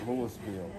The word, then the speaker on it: Louisville: louisville mississippi down there they call it lewisville because they're southern they're southern folks up here the louis is silent the s ah that's the key